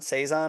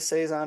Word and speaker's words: Saison: I had there saizon Saison I believe it's actually pronounced I believe it's a French word um it is a dry fruity spicy Brew um and I would agree uh I like the seison it's like a farmhouse